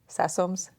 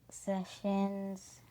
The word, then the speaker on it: Sessoms: have for you is, do people always get that name right? Sessoms? You're shaking your head no. So what are some of the things that they say? Sessions. And it's spelled, y'all, Sessoms. And people say sessions, I would say 60% of the time, if not more.